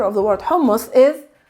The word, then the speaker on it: hummus: letter of the word hummus is it's not the letter s it's not a normal s it's a guttural s that comes from the